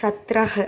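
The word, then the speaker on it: सत्रह: அடுத்து சத்ரஹ் அப்படின்னா 17.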